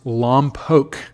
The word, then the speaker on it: Lompoc: Okay, Dan says it's pronounced Lompoc.